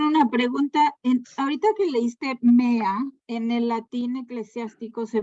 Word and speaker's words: mea: Ahorita que leíste mea, en el latín eclesiástico se pronuncia la E, ¿no? La EA se pronuncia E. Me.